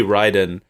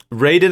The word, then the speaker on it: Raiden: the narrator is Raiden I always want to say Ryden because that's how it should be pronounced but it never is Raiden is played by Jeffrey